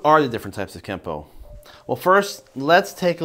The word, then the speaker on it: Kenpo: Japanese it becomes Kenpo now in the rules of kanji when a character ends with the letter n it will be pronounced with the end sound unless it's followed by a character that starts with P and that instance the N makes an M sound so technically speaking it should be spelled Kenpo but pronounced Kempo now through romanization you